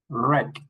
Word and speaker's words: wreck: For example, in this word, we don't pronounce the W. We start with the R. R. R. Wrap. Wrist. Wrinkle. Wreck.